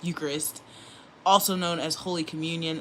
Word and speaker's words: Eucharist: All right, the devotions of the books emphasize devotion to the Eucharist as the key element of spiritual life. Okay, and I said it wrong. It's Eucharist, also known as Holy